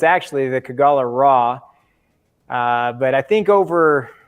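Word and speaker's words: Kogalla Ra: know the sun god so it's actually the kagala raw uh but i think over uh two years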